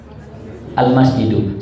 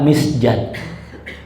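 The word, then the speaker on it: المسجدُ: Al-masjidu. Saya mau tanya, ada harokatnya nggak? Dari mana kalian tahu bacanya masjidu? Kenapa bacanya masjid? Kenapa nggak misjad?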